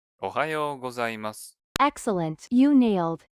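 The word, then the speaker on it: おはようございます: by context and correct your pronunciation when you mispronounce them. Ohiyo gozaimasu. That was just the first syllable. Try saying the whole phrase clearly. おはようございます。 Ohayo gozaimasu.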